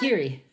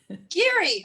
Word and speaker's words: Giere: Is that how I pronounce it? Geary. Geary, Close okay.